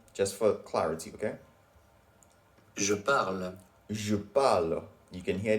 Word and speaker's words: parle: You may hear native speakers make a silent sound at the end of the verb forms like parle and parler when they are going slowly and enunciating like our speaker in the table above. However, that's just a bit of air that lets them pronounce the final consonant sound clearly.